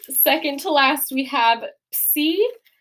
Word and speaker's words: Psi: All right, second to last, we have psi. Psi is the equivalent of a P and an S sound together in English. It's a ps, right?